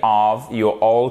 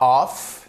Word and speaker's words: of: donc ici computer getid of computer et c'est pas off faites bien attention c'est of ok donc computer c'est